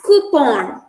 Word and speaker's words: coupon: pronounced the first word it's pronounced as coupon uh it's not coupon it's coupon it was borrowed from the french word cooper and the second word